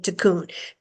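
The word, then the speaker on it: תיקון: He's bringing tikkun to the family. And that word restoration is tikkun. And tikkun is spelled tav kaf or kuf, tav kuf nun,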